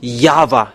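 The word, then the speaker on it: Yahweh: have seen the source the real name the true name is Yava let me write it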